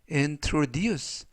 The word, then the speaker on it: introduce: 그러하고 발음 하시면 되겠구요 이때 강세는 뒷부분에 있는 알파벳 u 에 강세가 있습니다 그래서 n tods 라고 발음 하시면 더 좋겠구요 품사는 동사 뜻은 소개